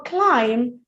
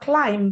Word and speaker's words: climb: Now for climb, you notice the B is silent. So it's not climb, but climb.